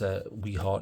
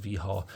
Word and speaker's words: Wiha: Yes, I realize it says Wiha to some people, but it is pronounced Wiha.